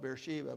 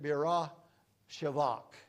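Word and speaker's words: Beersheba: here Bersa all our lives we've called it Bersa but it's actually split up to B shivak and or people have used it Birra shivak is is the way that the name is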